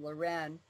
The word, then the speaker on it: Leuren: same name we do mine is the french pronunciation loren and his is the